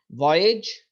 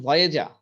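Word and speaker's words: voyage: ভয়েজ, এই উচ্চারণটা কিন্তু ভয়েজা এরকম না। ছোট সময় আমরা শুনছি ভয়েজা বলতাম, এটা হচ্ছে ভয়েজ।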